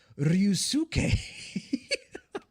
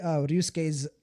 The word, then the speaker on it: Ryusuke: The way Ryusuke's name is pronounced is like that. It's pronounced Ryusuke. Like for those of you who've watched Sasuke, for those of you who've watched Naruto, it's basically like the same pronunciation as Sasuke. You don't pronounce the second U like that, with that much intonation.